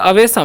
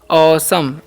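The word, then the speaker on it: awesome: इसे हम पढ़ते हैं अवसम नहीं इसे अवेसम नहीं पढ़ना है ध्यान से देखिएगा इसे हम पढ़ते हैं असम क्या पढ़ते हैं ओसम ओसम ठीक है ओसम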